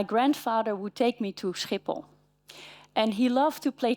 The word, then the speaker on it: Schiphol: And even though I knew better, it took me quite some time to learn how to pronounce this place like Schiphol.